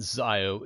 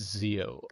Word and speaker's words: Zio: It's not Zio, it's Zio. I don't care if Zio says otherwise.